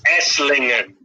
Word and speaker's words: Esslingen: No, of course I horribly butchered the name of the town. It's Esslingen.